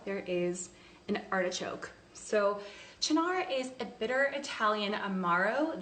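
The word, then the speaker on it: Cynar: the spritz so I'm using a liqueur called Shinar you pronounce it Chino and you might notice on the label there is an artichoke so Shannara is a bitter Italian Amaro that has artichokes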